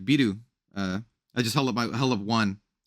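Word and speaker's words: ビール: So like beer is just it's spelled like Beeru. It's biru, but you say biru.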